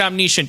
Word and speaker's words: omniscient: or a senator hey is it pronounced omniscient or omnicient you can you can pronounce it omnicient don't take my girlfriend's